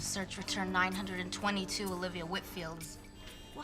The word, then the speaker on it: Whitfield: next week and just wanted to get the pronunciation of her last name correct whitfield well that's what i thought and how do